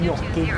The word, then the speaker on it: gnocchi: If you're feeling fancy, a bit of gnocchi. Oh, yeah, it's got G in it. It's like gnome. Gnocchi. Yeah. That's like it's in the silent G family, which is exclusively operated by gnomes.